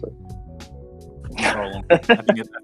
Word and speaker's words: Rowling: First created Harry Potter, or Rowling, however you want to pronounce it. Rowling.